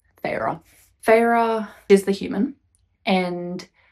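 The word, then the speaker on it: Feyre: So I also found out it's pronounced Fra. Last time when I was doing the uh my TBR reading, I was like, I don't know how to pronounce that. It's Fra.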